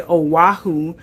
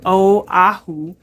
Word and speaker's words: Oahu: A lot of people say Oahu, but our tour director also told us the correct way to say it is Oahu, which was the first island.